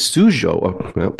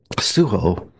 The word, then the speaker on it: Sujo: here this week is sujo see I said it wrong suo directed by ASD I'm